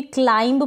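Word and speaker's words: climb: पढ़े क्लाइंट मतलब ग्राहक इसको भी क्लाइम पढ़े क्या पढ़ेंगे क्लाइम क्लिम ना पढ़े यहां पर बी का उच्चारण नहीं हो रहा है इसको क्लिम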